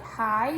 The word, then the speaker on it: high: So we are, it's making that sort of I sound, like high would be high. So the G and the H are silent, which makes it tricky to remember.